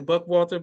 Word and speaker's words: Buchwalter: It is Buchwalter. So put a little stank on the H, and the W sounds like a V. So Buchwalter.